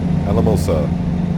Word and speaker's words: Alamosa: the city of alamosa i'm going to keep saying it right and wrong at the same time alamosa i i sometimes i want to put an r in there for some reason just gotta remember the alamo getting this lane here